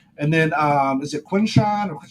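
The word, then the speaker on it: Quinshon: And then, um, is it Quinn Sean or how do you say his name? Yeah, Quinn Sean.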